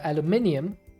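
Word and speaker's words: aluminium: which way it's spelled it depends on which way it's spelled so if it's aluminum which is the American version and if it's aluminum that is the immersive engineering which I believe immersive engineering is made by someone who's British I think because it's aluminum not aluminum but both of them are accepted both of them are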